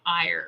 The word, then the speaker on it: Eir: Of Ire, I think that you say her name Ire, right?